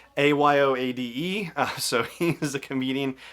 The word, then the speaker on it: Ayoade: And also the droid is played by, here we go with pronunciation, Richard Ayoade, Ayoade.